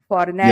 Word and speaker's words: Fornaro: Am I pronouncing it right? Fornaro.